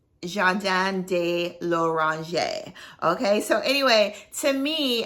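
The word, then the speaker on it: Jardin de L'Orangerie: this right Orange I think I pronounced it before Jordans de la range but it's Jean Dan de Loranger okay so anyway to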